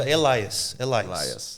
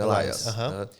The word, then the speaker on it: Elias: Nossa, então, no início, quando eu mudei para lá, eu sempre mantive ali o meu nome Elias, né? Eu falava Elias. Então, por muitos anos eu mantive assim. Com S no final mesmo, Elias.